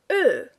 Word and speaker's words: Ö: Then we have ö. The sound is again close to an English sound. It is very close to the sound that you hear in such words as word, bird, turd, flirt.